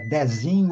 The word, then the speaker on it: Dezinho: me colocou em dúvida é desinho ou Dezinho é bom lá no nordeste a gente chama desinho né Tem vários desin